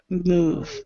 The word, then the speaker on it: move: I move so move so pronounce the v v move out yeah yeah okay